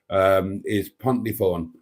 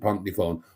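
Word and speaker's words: Pontneathvaughan: The anglicised version of that is Pontnefawn. It's spelled Pont Neath Vaughan, but we pronounce it Pontnefawn.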